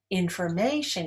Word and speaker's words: information: Information is stressed on the third syllable.